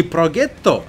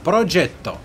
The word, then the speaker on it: Progetto: Не Progetto с английского, как бы, а поскольку это итальянская машина, Progetto.